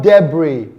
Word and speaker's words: debris: It is pronounced aisle. We have the word debris, debris, not debris.